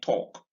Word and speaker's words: talk: And it occurs in the A in chalk, in walk, in talk. All right. Now notice once again that the L in each of these words is silent.